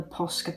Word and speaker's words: Posca: them and i love the posca pens i think it's pronounced like that posca i love using those